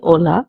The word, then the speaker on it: hola: The first greeting is hello which is hola in Spanish. The first word begins with an h. It is silent in the Spanish language so we say hola instead of hola.